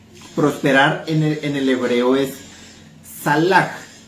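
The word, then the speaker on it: צלח: Esa palabra prosperar en el hebreo es salach y se escribe T S A L A K y J.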